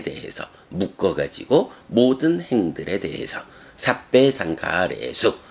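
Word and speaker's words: sabbe: 발음해 줄 때, 그때는 요 삽바도 그 척격이란 격을 같이 가져서 삽바가 아니라 삽배라고 발음이 돼요.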